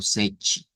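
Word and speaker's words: sete: Y hemos dicho que la pronunciación es algo como sech, donde la T suena como una ch, como una CH.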